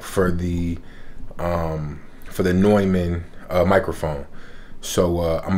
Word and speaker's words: Neumann: got my new neumann i think it's pronounced neumann i think some people say newman but anyway my new